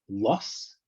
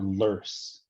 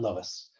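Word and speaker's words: loess: of sediment that is either pronounced lus or lurs not lois uh and this sediment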